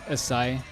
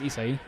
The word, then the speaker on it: Isai: But yeah, he said my name wrong. He said Isai. It's actually pronounced Isai.